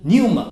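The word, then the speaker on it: πνεῦμα: 希腊文发音是 pneuma，气动、肺炎、肺病，这字都是围绕着气。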